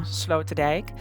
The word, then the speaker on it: Sloterdijk: Station, which is called Station Sloterdijk, or let me just say it correctly, just in the Dutch way, Amsterdam Sloterdijk. When you go over there,